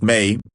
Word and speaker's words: Méi: And, she concluded, M8 copyright pronounced Mei, means plum in Chinese.